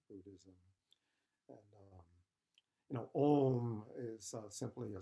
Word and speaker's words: om: quite nice you know it's got the vowel oh and then the sonant consonant and mani padme is